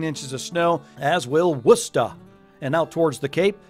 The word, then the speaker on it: Worcester: this upcoming season Massachusetts that's not warchester in the middle folks that's Worcester and you gotta say it like that Worcester so my old stomping